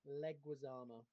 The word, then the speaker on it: Leguizamo: before we move on, Leguizamo is how to pronounce it.